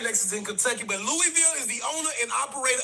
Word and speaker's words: Louisville: Next is in Kentucky, but Louisville IS THE OWNER AND OPERATOR OF KENTUCKY.